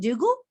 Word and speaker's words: Dugle: Is it Dugle? You got it.